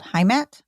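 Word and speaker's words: Heimat: opened in Los Angeles called haat I believe is how you say it it is a German word it means home and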